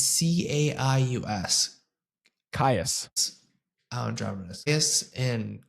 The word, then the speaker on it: Caius: It's like it's C A I U S.